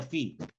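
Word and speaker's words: fi: Se pronuncia phi.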